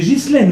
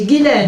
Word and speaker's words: Ghislaine: D'abord, est-ce qu'on dit Ghislaine ou Guylaine? Comment? On dit Ghislaine, c'est Ghislaine votre prénom? Non, c'est Guylaine.